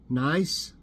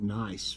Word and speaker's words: Nice: They should have in here that that's how you pronounce it, because I think that's how, you don't call it Nice, France. It's Nice, I'm pretty sure.